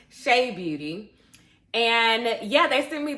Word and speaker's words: Chebeauty: It's from Cha Beauty or Shea Beauty. I want to make sure I'm pronouncing it right. Shea Beauty.